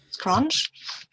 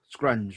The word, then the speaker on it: Scrunge: Scrunch? Scrunge, was that? Yeah, he likes to pronounce it scrunch, but it's really scrunge.